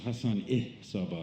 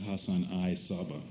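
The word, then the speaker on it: Hassan-i Sabbah: It's Hassan Saba, not Hassan I Saba.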